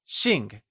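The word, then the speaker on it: 姓: the fourth tone Also remember,that x is always spoken with a sh sound in Mandarin! Lets hear you say Xìng Wonderful!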